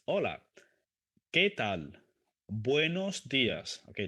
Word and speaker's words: hola: So remember, the H is silent. The H is mute. In Spanish, we don't pronounce it. So, hola, hola. It's not hola. It's hola.